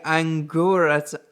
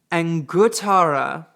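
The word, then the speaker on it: Anguttara: the fourth one is the angur I'm sorry I said that wrong angara yeah I've got to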